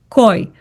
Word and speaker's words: кой: Koi is who, and it's spelled K-O и кратко. Кой?